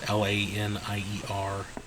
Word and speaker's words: Lanier: And I'm not even sure if I'm pronouncing that right. It's Lanier.